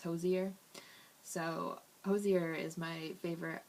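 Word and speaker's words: Hozier: I say hosier, but I guess the correct pronunciation is hosier.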